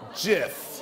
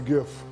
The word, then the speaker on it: GIF: Is it pronounced GIF or JIF?